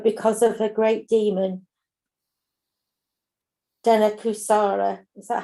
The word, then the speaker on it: Dhenukāsura: nice place but because of a great demon dana kusara is that how you say it yeah yeah